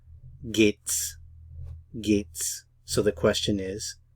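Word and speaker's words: geht's: it Vates vgate s we often contract the gate and the S to gates gates so the question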